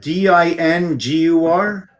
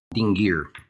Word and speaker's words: Dingir: So you said DINGUR? Yes, let me double check for you. Yeah. Dingir, and it's spelled DINGIR, not UR, IR.